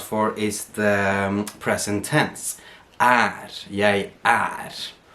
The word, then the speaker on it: jeg: So you have jeg her, right? So it's written with the E, but it's actually pronounced with the Norwegian letter A.